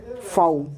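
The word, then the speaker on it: faux: Silent x, एक्स एक ही ऐसा word है जहाँ पे एक्स साइलेंट है और वो वर्ड है फाउ, वो वर्ड है फाउ।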